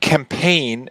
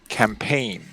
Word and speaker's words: campaign: The word campaign, the G is silent. So it's like P-A-I-N, pain, campaign.